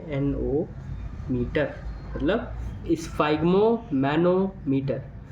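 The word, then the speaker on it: sphygmomanometer: जी एम ओ एम ए N metre मतलब स् फाइम मैनो मटर स्पेलिंग याद हो ना हो मतलब नहीं है बस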